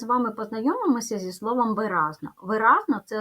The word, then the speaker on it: виразно: Отже буде три склади ділимо на склади ви разно ставимо наголос виразно наголос падає на другий склад позначаємо приголосні звуки в